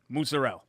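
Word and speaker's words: mozzarella: spinach in there right I say it like authentic like here we go it was like a musarel it was like a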